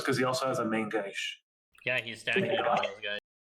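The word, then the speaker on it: main-gauche: Oh, it's because he also has a main gauge. Yeah, he's stacking it on those guys. Can you pronounce that? Main gauge? Main gosh? Main gosh.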